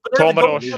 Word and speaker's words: Comoros: Comoros, yeah.